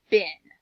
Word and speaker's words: been: we have to say okay let's try the vowel the short way since saying it the long way wasn't right and so we say bin good let's spell it